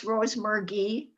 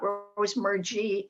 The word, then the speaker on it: Rosemergy: And thanks to Bonnie, it's Rosemergy, not Rosemergy, as I was thinking in my head. And she suggested you. So Yeah, hard G, hard G. hard G, yeah, Rosemergy. But will do.